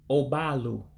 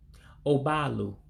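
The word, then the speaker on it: ụgbọelu: So again, this is one where you have to drop the E in Elu, which looks like an E in English. It's not pronounced that way, of course, in Igbo.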